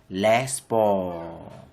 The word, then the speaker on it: sports: Les sports. Don't bring the T at the end. On reprend encore. Let's take it again. Les sports.